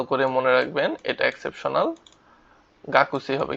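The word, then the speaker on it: 学生: তারপর হচ্ছে গিয়ে গাক্সি। ওকে? কা কু সে ই। কাকু সেই। উচ্চারণটা কিন্তু গাকুসি হয়। কিন্তু আপনারা বলবেন কি? গাকসি।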